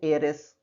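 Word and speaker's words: heiress: तो एन एयरएस, ये air masculine है, एयरएस फेमिनिन है। एन ऑनेस्ट पर्सन, इन सभी जगहों पे एच का उच्चारण या प्रोनाउंसिएशन ह न हो करके अ है, इसलिए इसके पहले एन लगा हुआ है।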